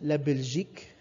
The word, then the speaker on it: Belgique: what the gender of belgium is belgium is pronounced as la belgique la belgique okay and the gender of belgium